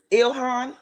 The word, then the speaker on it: Ilhan: Pronounce that name for me, sis. Ilhan.